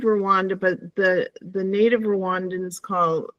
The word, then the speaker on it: Rwanda: A small little African country, it's spelled Rwanda, but the native Rwandans it's pronounced Rwanda.